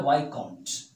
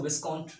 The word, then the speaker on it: viscount: इसके बाद जो नेक्स्ट है वो है वाइकाउंट। इसमें एस साइलेंट होते हैं, इसको विस्काउंट मत रीड करना, VISCOUNT, वाइकाउंट, एस को खत्म कर देते हैं, ये एस को, और यहाँ सी से इसको प्रोनाउंस करते हैं।